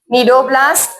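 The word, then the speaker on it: cnidoblast: One unique feature presence of Nido C silent है। नीडोब्लास्ट और नीडोसाइट्स and second central guest गैस्ट्रोवस्कुलर cavity.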